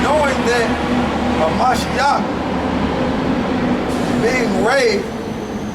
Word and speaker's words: Mashiach: Knowing that a Mashiach being raised, a Mashiach, that's how you say it in the Hebrew.